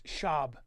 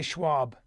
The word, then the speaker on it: Schaub: podcast with Brandon Schwab it's shab don't say Schwab I'm saying it wrong yes it's Brendan shab it's a German name you could hello oh